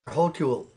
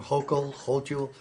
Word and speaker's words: Hochul: Yeah, and Governor Hochul, how do you say her name? Hochul, in New York is begging rich or whatever people to come back.